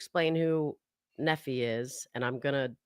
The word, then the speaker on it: Nephi: and Sariah so and it's pronounced Nephi Not neither. Nephi.